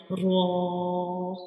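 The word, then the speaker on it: ر: We read it with heavy sounds like raw. When we pronounce raw, the sound fills into the mouth like raw.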